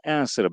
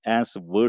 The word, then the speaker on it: answer: burada diğer kelimeler Burada en sıra Belki yeni bilenler Duyanlar olabilir cevap anlamında bunu telaffuzda Bazen zorlanıyor arkadaşlar answer şeklinde falan telaffuz ediyorlar Burada en sır şeklinde telaffuz etmeliyiz bu kelimeyi Merve evlenmekte Onun dışındaki